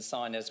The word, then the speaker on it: signers: function and in fact the G in signers we've just said it's not pronounced it indicates meaning and